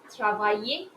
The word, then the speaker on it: travaille: Then we have the next verb, travailler, to work. Je travaille, tu travailles, il travaille, elle travaille, nous travaillons, vous travaillez, il travaille, elle travaille. Okay? Don't pronounce the L.